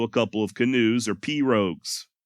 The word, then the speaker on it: pirogue: Please do not email me saying that I'm pronouncing pirogue incorrectly, all right? I'm saying it the way that Hank Williams Sr. says it in Jambalaya on the Bayou. And if it's good enough for old Hank, then by God, it's good enough for me.